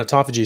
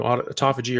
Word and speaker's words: autophagy: And um uh and autophagy. So you know autophagy or autophagy, which I think is probably more uh proper way of pronouncing it, is um is when